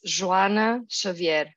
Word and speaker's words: Joana Xavier: I'm Perry Marshall, and I'm here with Joana Xavier. And so, Joana, and in Portuguese, it's Joana Xavier, right? Could you say it correctly? I can, yes, although I don't mind, but it's Joana Xavier.